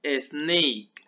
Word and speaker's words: snake: Serpiente, snake, ¿sale? Aquí tienen que pronunciar como una E que no está escrita, ¿sale? Pero cuando queremos decirla, cuando queremos pronunciar, es como si la pusiéramos aquí, ¿sale?